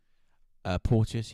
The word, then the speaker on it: Porteous: Is that how you pronounce the surname? Porteous, yeah.